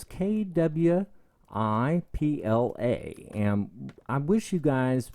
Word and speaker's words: Kwipla: I did not make this up, obviously, and it's by pardon me if I mispronounce this. You'll probably learn my age today. It's by Kwipla, and it's Kwipla, and I wish you guys would go ahead